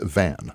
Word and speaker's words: van: big time birthdays today ludwig van not vaughn it's van oh beethoven really yes